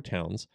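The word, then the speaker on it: Townshend: town send acts and it looks like it's pronounced town but it's actually towns and it's a british name yeah so it's passed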